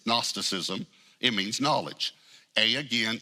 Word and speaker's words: gnosticism: from a greek word the g is silent it's gnosticism it means knowledge a